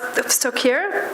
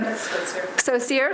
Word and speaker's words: Skocir: Skocir, professor in Skocir, sorry. I asked her how to pronounce her name like 3 times.